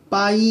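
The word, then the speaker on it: 배: 그래서 이걸 빠라고 읽어야 돼요. 빠. 옛날에 이 애는 이중모음이기 때문에 바이라 읽어야 되거든요.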